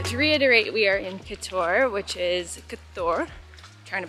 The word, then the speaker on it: Kotor: it yes so to reiterate we are in Couture which is coutur trying to pronounce a little bit more properly like local